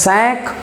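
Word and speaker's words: cinq: are not mu so here why do we read it as sac because q is one of the exceptions so it will not be mu but we have certain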